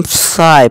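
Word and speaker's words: sigh: या फिर आप यूँ भी कह सकते हैं, ये जी और एच हमारा साइलेंट रहेंगे, ठीक है दोस्तों। जैसे देखिए इसे हम साय पढ़ेंगे, साय, इसे हाय, हाई यानी कि ऊंचा।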